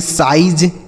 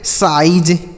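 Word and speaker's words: size: आगे एस आई जेड ई इसे पढ़ेंगे साइज। क्या पढ़ेंगे मेरे भाई? साइज, एस आई जेड ई साइज।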